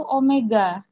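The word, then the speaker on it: ω: W itu juga bacanya bukan W ya, itu omega.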